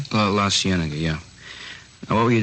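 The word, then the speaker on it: La Cienega: Uh Las Sigenega. Is that how you say it? La Sienna.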